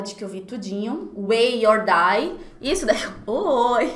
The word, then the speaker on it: WEI: É Way, Way or Die. Eu achava que você pronunciaria Why, né? Why or Die, ficaria muito mais bonito. Mas não, é Way mesmo.